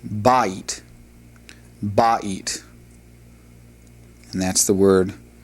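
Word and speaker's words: בַּיִת: And then the last word in this particular vocabulary list is the word for house, which is pronounced ba'it.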